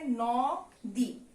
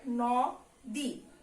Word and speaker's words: নদী: তাহলে এই উচ্চারণটা যদি আমরা করি তাহলে কি হবে, ন দি। তা কিন্তু না, এটার উচ্চারণ আমরা কি করি? আমরা এটার উচ্চারণ করি হলো নো দি, আর উচ্চারণে দীর্ঘিকারটা সবসময় কি হয়ে যায়, ঋষিকার হয়ে যায়।